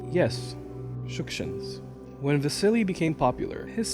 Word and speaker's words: Shukshin: I say the surname with the emphasis on the first syllable because that's the correct way to pronounce it. Yes, Shukshins.